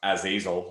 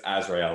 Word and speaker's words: Azrael: and be like, yeah, the main character isn't pronounced Azazel, like it's Azrael, like that's how it's spelled.